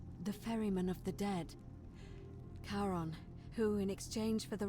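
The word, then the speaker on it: Charon: coin it's just as you described it your pronunciation is a little off the name you heard wasn't karen it was c-h-a-r-o-n as in caron the ferryman of the dead karon who in exchange for the right coin helps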